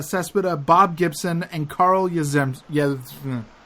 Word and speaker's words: Yastrzemski: Bob Gibson, and Carl Yastrzemski. Yastrzemski. Yes, it's Yastrzemski. Yes. That's not how you say his name, Brendan.